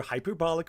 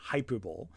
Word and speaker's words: hyperbolic: coherency nothing because you're hyperbolic reaction and yes it's hyperbolic not hyperball um is so over